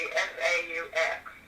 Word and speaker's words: faux: It's pronounced faux.